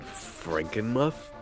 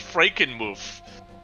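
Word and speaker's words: Frankenmuth: you ever been to a tourist town called Franken muff I heard they had the best cheese store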